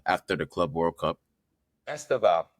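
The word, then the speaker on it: Estêvão: Estaval. Yeah, Estaval. That's how you say it.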